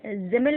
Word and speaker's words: Simmel: अच्छा, इनकी स्पेलिंग में S है, बट S को Z के तौर पर प्रोनाउंसिएट करते हैं जर्मन में, सो दैट इज़ वाई हम इसको जॉर्ज जिमिल पढ़ते हैं, जॉर्ज सिमिल नहीं पढ़ते हैं।